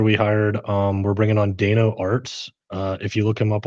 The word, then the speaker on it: Dano Arts: We're bringing on Dano Arts. If you look him up on Instagram or TikTok, it's spelled DAYNOARTS, Dano Arts.